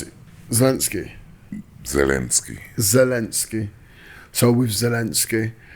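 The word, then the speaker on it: Zelensky: on with what's his name ziny is that pronounce it zalinski zalinski zalinski so with zalinski and um you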